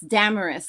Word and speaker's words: Damaris: It's Damaris, like glamorous, darling.